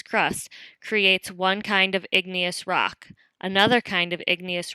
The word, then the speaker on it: igneous: first type of rock is igneous which you pronounce igneous igneous means fire rocks which is a good